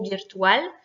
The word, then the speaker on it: virtual: Premier mot, virtual. C'est un L consonne, donc dernière syllabe accentuée.